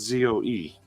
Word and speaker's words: Zoe: How do you pronounce Zoe? It's also pronounced Zoe.